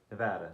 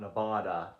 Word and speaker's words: Nevada: You say it like Nevada, not Nevada. Nevada. Something you learn about when you move out here.